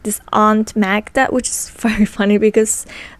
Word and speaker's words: Magda: there's like this Aunt Magda which is very funny because that's literally my sister's name I mean in Polish you pronounce it like Maga but anyway that's all